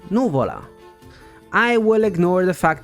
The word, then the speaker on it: Nùvola: the word pasta wrong the other word is actually pronounced noola I will ignore the